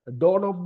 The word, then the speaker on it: doorknob: So if you, for example, if you write doorknob එක, so doorknob එක KNOB, doorknob එක අපි K එකක් තිබ්බට K silent.